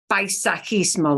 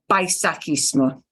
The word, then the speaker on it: paisajismo: It takes país, country, yeah? Adds on kind of paisaje, but paisajismo, ¿sí?